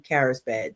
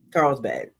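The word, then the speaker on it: Carlsbad: There's quite a few in LA, a new one in Lagona, and one in Carisbad. Did I pronounce that right? Carl'sb. Yeah, Carl'sbad.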